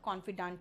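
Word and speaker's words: confidante: राजदार कॉन्फिडेंट, लेकिन वही महिला होगी तो ई लगा देना, प्रोनाउंसिएशन सेम होगा, कॉन्फिडेंट ही होगा।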